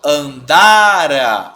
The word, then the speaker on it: andara: Aqui, ó, andara. A minha sílaba tônica tá aqui, né? No dá, então é uma paroxítona, né? Terminada em A, então não tem acento.